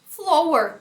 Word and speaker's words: flower: Flower. Lógico. Se aqui é flow, aqui vai ser flower. Não.